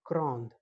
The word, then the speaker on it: grand: In masculine form, we pronounce only till gran. We do not pronounce the last consonant d.